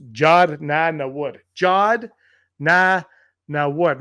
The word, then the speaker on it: Jod: It's Jod.